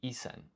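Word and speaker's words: 一千: You say isen. So I need to go fix that. In fact, if I do localhost 5137, apologies, it's a little bit chaotic. So basically, this is wrong. This is not 1,000, it's isen. 1,000 is not sen, it's isen.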